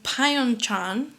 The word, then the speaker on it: Pyeongchang: by north korean minders in pyeongchang i don't know if i'm saying it right